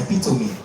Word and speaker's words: epitome: You can check the British pronunciation. And then this one, ex gratia, yes. And then that one, epitome. Yes, epitome.